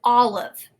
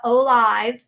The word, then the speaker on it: olive: whoops love two-syllable word so i'm going to look at the first syllable all that is a short vowel sound the o is because it is a closed syllable the l tells us it is a closed syllable now typically we would say i is long all live but in this case the word is not o live it is olive so it is an